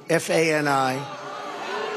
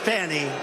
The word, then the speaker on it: Fani: It's all — look at Fani, F-A-N-I. It should be pronounced Fanny. Fanny. Fani. Fani. They say she gets very upset if you call her Fanny.